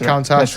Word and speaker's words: Countach: Countach. Countach. Yeah, that's Countach. right. Lamborghini Yeah. Countach. It's fine. A Brit telling another Brit how to pronounce.